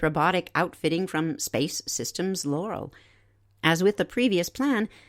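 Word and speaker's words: Loral: So, a group of three United States companies, NanoRax, United Launch Alliance, and Space Systems Laurel, that's spelled L O R A L, has now been contracted to examine whether building a recycled space station will work.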